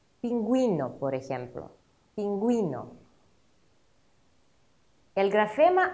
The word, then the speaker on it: pingüino: Pero si la letra U tiene diéresis, entonces U se pronuncia. Pingüino, por ejemplo.